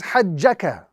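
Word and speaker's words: حَاجَّكَ: So what we are going to do is we are going to stretch first and then join to the jim with a little emphasis and then move forward to finish off the word. So the correct pronunciation of this particular example is hajjaka. Prolongation first, then we join with an emphasis on the jim, and then we complete the example accordingly.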